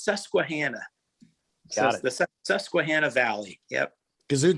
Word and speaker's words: Susquehanna: things how do you pronounce that region it's pronounced susquehanna the susquehanna valley yep kazoo type so two